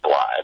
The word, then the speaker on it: Blythe: um it's Randy BL my name is pronounced BL but I'll just say